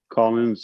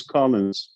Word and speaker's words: Collins: uh colin's uh part is it collins with an s or collin no s or not because that's how you spell it most people call you colin let's make a correction everybody use collins okay that's what i